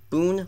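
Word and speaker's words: Boone: one earned run and Bone Logan Boon Logan pronounced that wrong for a second will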